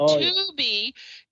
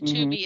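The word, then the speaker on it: Tubi: out of control so when you hear like 2B you watch you can watch some great shows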